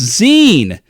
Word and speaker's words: zine: No, this has been It's Pronounced Zine.